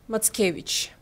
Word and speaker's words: Mackiewicz: in our blood and his last name pronounced matkevich and just following up